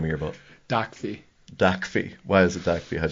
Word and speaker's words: Docfee: Docfee. Docfee. Why is it Docfee? So it's spelled DOCFEE, because on every transaction in the car business, there's a dock fee.